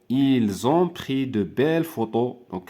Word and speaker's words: photos: ont pris de belles photos donc P h f p avec H se prononce F ils ont pris de